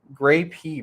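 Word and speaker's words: Greyp: e-bike group or company gray p pronounced like the fruit late last year supposedly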